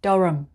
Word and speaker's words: Durham: english 26 dharam dharam it's just durham rum it's a rum sound not do ham okay so it's darum